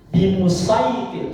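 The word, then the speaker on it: بمصيطر: yang baikir inakirai cara bacanya bukan bimit cara bacanya ada dua bimusaitir shad sama sin jadi satu bimusaitir atau sekalian sin bimusait ir meskipun hurufnya saf. Meskipun hurufnya saf, tapi cara bacaannya bimusaitir.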